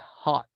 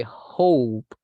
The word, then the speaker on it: hope: But be careful with the pronunciation of this because I heard I hot. Esto escuché yo. I hot. It is I hope.